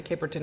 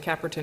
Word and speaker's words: Caperton: Caperton or cap Orton I always pronounce the Caperton and then mr. SIA pronounced it cap rotten and he probably knows better than I do so what what what